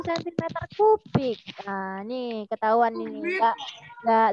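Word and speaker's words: cm³: Debit aliran bensin tersebut adalah titik-titik sentimeter 3 atau detik. Lalu oh ya, di kelas 5 Nabi Lut belum harus kasih tahu ya. Ini bacanya bukan sentimeter 3 sayang, tapi sentimeter kubik.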